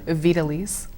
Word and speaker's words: Vidalys: I don't want to mispronounce everybody's name here. I got Vidalys Holmes. Vidalys. Say again? Vidalys.